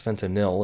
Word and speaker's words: fentanyl: and fentanyl which he which he always mispronounces it's fentanyl it's yl not that that any way